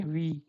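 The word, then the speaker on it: wie: So this is like in English you have vi the same sound comes here this is we okay vi.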